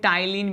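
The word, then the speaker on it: ptyalin: क्या कहते हैं इसे टाइलिन भी कहते हैं, और ये टाइलिन में पी साइलेंट है।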